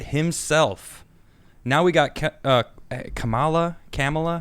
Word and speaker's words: Kamala: now we got uh kamala kamala kama la kamala yeah is that it okay yeah she she says she says think of the word comma c-o-m-a-l-a all right so camella